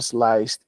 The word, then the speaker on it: sliced: Sliced, sliced, con la T, ambos con la T. Se pronuncia al final. Sliced, chopped, chopped, sliced. Aunque sea D al final, lo vamos a pronunciar con T. No todas van con T, pero estas dos sí.